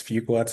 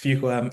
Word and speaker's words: Fuqua: So I'm representing Duke University's Fuqua School of Business, and that's Fuqua. It's hard to pronounce, but it's Fuqua.